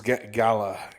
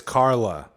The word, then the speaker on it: Gala: painter dude um but yeah her name was gala gala gala I think I I kept hearing it as Carla yeah which is interesting because like uh and